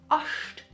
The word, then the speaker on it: Ast: So if I write something like, for example, ast, ost, which is a branch, I write it like German, ast, but I pronounce it ost.